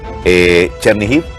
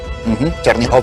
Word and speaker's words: Chernihiv: Chernihiv, Chernihov en ruso.